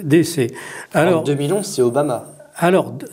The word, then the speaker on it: DC: à Washington DC et je dis DC pour le prononcer en français puisque'en anglais on dit Washington DC mais d'ici et les gens vont penser que c'est ici ou ou c'est là-bas. Non, c'est c'est vraiment euh DC.